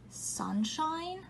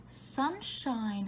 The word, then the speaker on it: sunshine: Ooh, did you point to sunshine? Sunshine has a magic E. Without the E, it says sunshin. But with the E, it says sunshine. So the I has a long I sound.